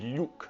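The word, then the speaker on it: люк: One of them is what's called a palatalized L, and it's pronounced basically simultaneously with a y sound. For instance, the Russian word for like a hatch is yuk.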